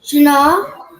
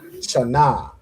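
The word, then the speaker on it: שנה: Shana. Shana. Well done. Right. So Shana is how you say year in Hebrew.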